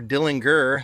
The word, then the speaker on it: Dillinger: They we do know that John Dillinger hat or Dillinger, they say that's how it's actually pronounced.